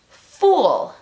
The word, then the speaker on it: fool: La primera palabra es fool. Casi como una U en español.